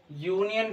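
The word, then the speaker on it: union: इसी तरह से और भी हैं, जैसे कि यूनियन। क्या भाई, यूनियन क्या है, इसमें भी प्रोनाउंसिएशन के बाद यू निकला, यूनियन। तो इसके आगे भी आर्टिकल ए यूज होगा।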